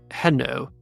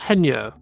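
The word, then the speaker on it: Hesnault: hno hno f hen it almost s like Reno but with an H like Fen heno F heno Hans haa the only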